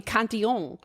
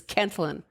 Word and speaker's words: Cantillon: got french citizenship so everybody's like no it must be kanting and you're like well then you're gonna have to start pronouncing paris pa it's like like you pronounce it the way you pronounce it that's the way it is pronounced it's canton jeff hell yeah i